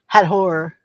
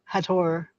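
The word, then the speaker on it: Hathor: So, they don't they didn't say T in ancient Egypt. No, they didn't say the th. So, it would be Hador. Hador, I believe, is how you would pronounce it correctly.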